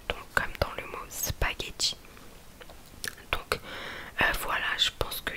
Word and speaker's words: spaghetti: Le G et le H, ça se prononce que. Donc, comme le seul exemple que j'ai trouvé, c'est spaghetti. Donc, spaghetti, je pense que